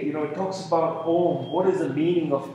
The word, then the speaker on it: Om: as a Unity that some people think of om as you know made of it's actually om like a you but uh he says